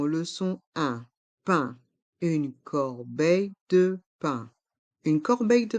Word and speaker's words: corbeille: couverts la fourchette le couteau la cuère une corbeille de pain une corbeille de pain dans le